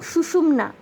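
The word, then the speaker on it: সুষুম্না: ইরা পিংলা এবং সুষুমনা অনেক জায়গায় অনেক ভুল প্রোনাউন্সিয়েশন শুনতে পারেন আপনারা অনেক ভুল উচ্চারণ না তিনটি নাদি হলো ইরা পিংলা এবং সুষুমনা তিনটি প্রধান এবং এই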